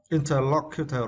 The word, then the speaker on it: interlocutor: And for the next question, interlocutor, right? Interlocutor, interlocutor. I'm sorry, interlocutor. Yeah, interlocutor. And for this word, you need to stress the third syllable.